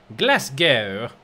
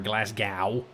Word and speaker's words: Glasgow: that is a ship enter port Glasgow or Glasgow as it's supposed to be pronounced alright enter chart house